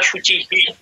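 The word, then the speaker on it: শুচিঃ: আচ্ছা, মানে ওখানে বিসর্গের উচ্চারণটা শুচিহি। হ্যাঁ হ্যাঁ, ওই বিসর্গ তো চয়ের সাথে যুক্ত আছে, তো চয়ের সাথে ইকার থাকায় হয়ের সাথে ইকার যুক্ত হবে। আচ্ছা, ঠিক আছে, তাহলে আর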